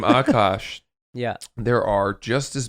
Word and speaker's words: Akaash: Akaash, which is Akaash. All right. A like aardvark.